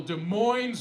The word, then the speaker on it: Des Moines: You know how you can tell I'm from the one here in Washington and not Iowa? I pronounce that last S. Those Iowans, they drop it like a newborn baby.